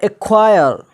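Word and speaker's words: acquire: है, तो यहाँ पर क्या हो जाएगा, सी साइलेंट हो जाएगा। एक्नॉलेज, एक्नॉलेज का माना होता है कबूल करना। इसी तरह एक्वायर, एक्वायर ए है, उसके बाद सी है, सी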